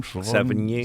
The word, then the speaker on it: Sevigny: Sevigny.